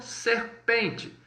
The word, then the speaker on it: serpent: Da mesma forma, quando você vira aí o EN, ou seja, a sílaba EN no francês, também você vai colocar com o som de on, tá? Por exemplo, serpente, serpent, d'accord?